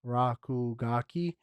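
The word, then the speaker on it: RKGK: lawsuit um next up we got RK GK um apparently it's pronounced rakugaki that they like okay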